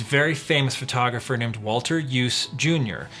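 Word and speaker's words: Iooss: Now, let's look at some historical examples and other examples of the use of a pan. Someone that really comes to mind is very famous photographer named Walter Yuse Jr.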